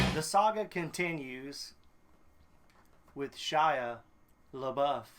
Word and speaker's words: Shia LaBeouf: the saga continues with shia labeouf thank you for saying it correctly this is shaya buff sean buffet that shy buffet kid um what's his name